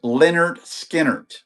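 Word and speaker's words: Lynyrd Skynyrd: This is their album Pronounced Leonard Skinner.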